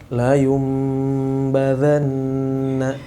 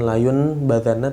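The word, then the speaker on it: لَيُنْبَذَنَّ: La yumbadanna, la yumbadanna. Ya, di situ ada nun bertemu dengan ba. Layum, bukan layun. Bacanya bukan layun badanna tapi layum badanna.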